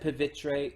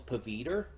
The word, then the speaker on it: Pavitr: much for mispronouncing it I believe they said pivitre in the film um prior to going in I thought it I thought it was paviter because it sounds like Peter but the the way